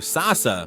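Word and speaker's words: 笹: connects with the Japanese word for bamboo, sasa, which sounds like sa-sa.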